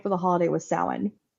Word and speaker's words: Samhain: the actual original name for the holiday was sa spelled Sam Hayne for all of us who mispronounced it for however many years um so